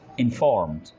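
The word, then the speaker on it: informed: इन्फॉर्म्ड, इन्फॉर्म्ड, यहाँ पर डी को हल्का सा प्रोनाउंस करेंगे।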